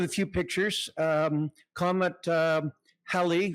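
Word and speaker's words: Halley: Um comet Hi rhymes with Sally.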